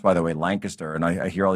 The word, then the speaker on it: Lancaster: And the county commissioners down there in Lancaster, which is that's the way it's pronounced, by the way, Lancaster.